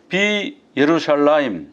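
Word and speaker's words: בירושלים: 여기도 보면 비 예루샬라임 이렇게 발음을 해야 되는데 이 사람들은 그냥 비루샬라임 그래요.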